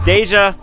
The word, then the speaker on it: Deja: Guys, this is Deja. Hey, you guys. Deja vu. That's how you say it.